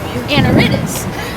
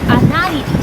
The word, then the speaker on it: Anaridis: My name in English is pronounced Anaridis, but in Spanish it's Anaridis.